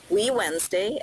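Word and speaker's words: WeWednesday: this series of events we Wednesday pronounced we Wednesday and the hashtag is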